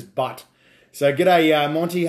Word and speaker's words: Bhut: all characters right is butt burns or otherwise pronounced as butt so g'day uh monty